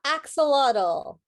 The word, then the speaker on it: axolotl: know how to pronounce that how do you pronounce that marielle it's the axolotl and i know what they look like they're